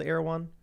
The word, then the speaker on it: Erewhon: how it's pronounced. Erewhon.